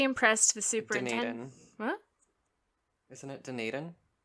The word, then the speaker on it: Dunedin: phone in the other room yeah yeah it's dunedin oh dang it okay sentence to six months